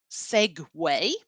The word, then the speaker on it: segue: So the pronunciation of this is segue. Where else in English does the UE combination make a way sound? Yeah, no, because we stole that word from Italian.